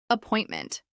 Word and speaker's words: appointment: Appointment. This is pronounced with stress on the second syllable.